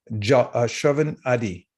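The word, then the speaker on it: आदि: another part it's a it's a dual word adi it should be a long a but i didn't i can't put the sanskrit diacritics in it so shravan adi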